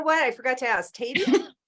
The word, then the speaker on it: Tady: Tady? Tady, yes, Tady. long A, Okay. rhymes with lady. Tady, like lady.